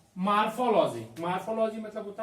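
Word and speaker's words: morphology: Metamorphosis, देखो इसको मॉर्फोसिस और एक मार्फोलॉजी, तो उसको मॉर्फोलॉजी बोल देते हैं, पर वो मार्फोलॉजी ओ होता है, वहां पर ए हम लोग प्रोनाउंसिएट कर देते हैं गलती से, इसलिए Metamorphosis is a biological process.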